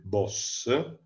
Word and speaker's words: Bosch: di parlare di ieronymos bosh ei suoi quadri in realtà si pronuncia in olandese il boss faremo una biografia breve